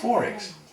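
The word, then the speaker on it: XXXX: those who don't know it's not Forex for censorship reasons it's because that's how it's pronounced Forex and the way to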